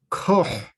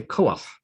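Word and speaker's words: כֹּחַ: So instead of koh, which is very hard to say, we say koach.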